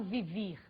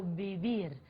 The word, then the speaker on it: vivir: português V em espanhol o v tem o som de muito próximo ao B do português portanto eu não falo vivir eu falo viir Ok vamos para o